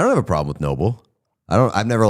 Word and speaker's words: NoBull: I think it's like pronounced NoBull. Oh, is Is right? I think so, yeah. Noble, but it's spelled like no BS.